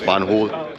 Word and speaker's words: Van Hool: Von hul booth I learned how to properly pronounce banul